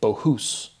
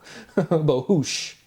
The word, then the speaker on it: Bohus: But Boas, Bohus. Bohush, excuse me. I still say my own name wrong.